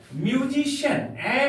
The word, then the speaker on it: musician: हम लोग दूसरा एग्जांपल लेते हैं, म्यूजिशियन, MUSICIAN। प्यारे बच्चों CIA यहां पर है इसलिए इसका उच्चारण, सी का उच्चारण श हो जाएगा। म्यूजिशियन, म्यूजिशियन इसका अर्थ होता है संगीतकार।